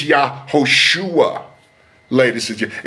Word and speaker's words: Yahushua: It's not Yahshua, it's Yahushua, ladies and gentlemen. It's not Yeshua, it's Yahushua.